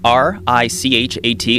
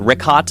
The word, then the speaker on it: Richat: Yeah, in the first couple, I just want to say it's Richat. I used to call it Ricot. I was mispronouncing it.